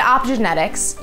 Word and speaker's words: optogenetics: To understand optogenetics, you first... Again. What? Just pronounce it optogenetics.